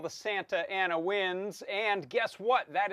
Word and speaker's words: Santa Ana: Santa Ana, S-A-N-T-A dash Ana, Santa Ana. We don't pronounce the T, but you can, Santa Ana.